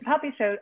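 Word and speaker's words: Popisho: humanity leonie ross's puppy show takes am i pronouncing that correctly leonie poppy show yes puppy show also takes place in a world set apart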